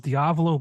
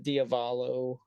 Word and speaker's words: Diavolo: I'm surprised why cuz a lot of people don't say it right they they uh you know they say it as uh diavalo or something like that where it just sounds like Diablo but with a V instead of a b right I